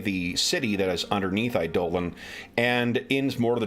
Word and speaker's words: Eidolon: uh flying city called eidolon and eidolon oh sorry idolan i actually only learned how to properly pronounce that word this week i was listening to a gene wolfe novel on um things and they said i dole on i dolen and i'm like is that how that word's supposed to